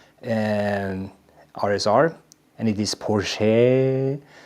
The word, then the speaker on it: Porsche: And for the Carrera modern GT, I'm driving my Porsche Porsche and RSR and it is Porsche. Not like the Aussies mispronounced it, but I saw that Bo was